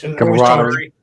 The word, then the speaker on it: camaraderie: Camaraderie. How you pronounce that word? Camaraderie.